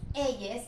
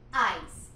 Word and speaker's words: eyes: Luego viene la palabra eyes, que no es ellas, es eyes, que sería ojos.